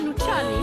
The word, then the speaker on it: Luciani: C'était avec l'accent. Mais moi, je le prononce en italien, Luciani.